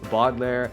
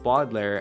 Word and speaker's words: Baudelaire: hope that this sort of explains why I pronounced it as boggler and I really appreciate that comment by the